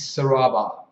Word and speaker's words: Serabar: It's actually pronounced, weirdly enough, is Serabar.